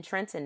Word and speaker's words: Trenton: grew up in in trenton new jersey uh in in philly we say trenton right we leave the tea out and it's trent so she grew up